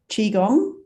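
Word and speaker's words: Qigong: But so Qi Gong, is that the correct pronunciation?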